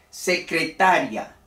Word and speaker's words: secretaria: y cuándo es un hiato aquí hemos dicho secretaria la secretaria en un solo golpe la última sílaba una dos tres cuatro sílabas secretaria la secretaria es la persona que se ocupa